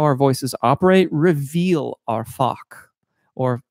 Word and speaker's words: Fach: I go back and forth on the pronunciation of that. I think that there's a French word, fache, and if that's the case, I'm going to go back to fache, because saying fach, it just feels uncomfortable to me.